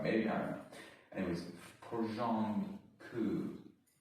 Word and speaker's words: porządku: Anyways, porządku. Oh, you don't pronounce the R, okay.